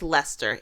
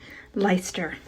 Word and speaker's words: Leicester: time we see we we know it's Lester it you know well yes here's a clip of me um pronouncing it correctly Lester Lester Lester leister that was a joke um so yeah so